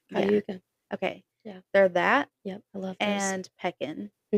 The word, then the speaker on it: Cayuga: It's I can see the way it's spelled. It's Caguya. Cayuga. Yeah. Cayuga.